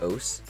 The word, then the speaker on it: osu!: Oahs is a rhythm game. I don't know why it's called Oahs or why it's pronounced Oahs, but this game caught my attention because I absolutely adore its user interface design.